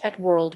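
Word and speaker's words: @World: us the black colored bandai pippen at world pronounced at world went on sale in the united states in june 1996 at a price of us 599.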